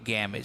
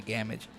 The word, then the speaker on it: Gamage: Now this is going to be Gamish. So that was, I kind of mispronounced, that was Sophie DeMoncos that had hit before that, and now it is Hannah Gamage.